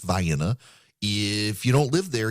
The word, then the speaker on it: Vienna: You've got a Vienna that's pronounced Vienna.